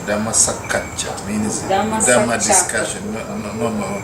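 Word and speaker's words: Dhammasākacchā: I said Dhammasakacha means Dhamma discussion. No, Dhammacakka.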